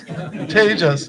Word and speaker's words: Tejas: It is those of you who know Sanskrit and a little Hindi, it's a good word. 2 syllables. Sorry, but we progressed. We went from Tom, 1 syllable, to 2 syllables. Tejas, yay!